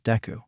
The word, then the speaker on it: Deku: other since childhood because my name can also be pronounced as deu which means useless plus my Quirk came